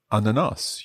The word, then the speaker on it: ananas: Jag vill beställa en ananas juice. Tack. Perfect. And I would say a little bit quicker with ananas. Uh-huh. So jag vill beställa en ananas juice. So the stress is on ananas, yeah?